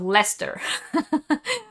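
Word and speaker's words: Leicester: spoke to told me just think of lester when you say it that's how she remembered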